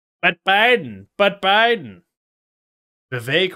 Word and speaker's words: Vivek: but Biden but Biden Vivek rhymes with cake